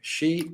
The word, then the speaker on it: Xi: It's not Xi Jinping, it's Xi Jinping. Xi, like you would say female in English. Xi is an insult word in the Chinese language.